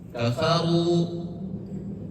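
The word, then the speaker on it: كفروا: Jadi semua huruf ro yang berharkat dhammah dimanapun tempatnya, mau di akhir, mau di tengah ataupun di awal, maka dibacanya tebal. Salah satu contohnya adalah kafaru, ruziqna, dan contoh-contoh lainnya. Kemudian yang ketiga adalah ro sukun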